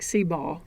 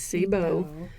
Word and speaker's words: Seabow: It's spelled, you'd almost think Seabaw, but it's Seabow.